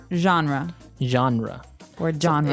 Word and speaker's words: genre: pronounced differently we say genre genre or genre this kind of sounds French is it French I think it comes from French uh it's a g word so genre it's a soft soft